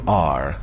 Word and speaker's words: our: کلمه O-U-R که تلفظ میشه our، راحت تر تلفظ کردنش این هست که بگیم R. دقیقا مثل حرف R که میگیم R، این رو هم بگیم R.